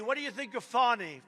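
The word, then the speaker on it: Fani: state fton county what do you think of fonny f do you think fonnie huh F A ni I that's pronounced Fanny but you're not allowed to say it's fny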